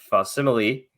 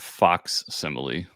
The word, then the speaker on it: facsimile: I've been pronouncing it Fox Simile. Yeah, facsimile. Well, it's spelled like facsimile. Well, with an X in it.